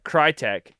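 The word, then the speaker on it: Krytac: is right right yeah because it's Tac like tactical yeah yeah crytek um has a maxim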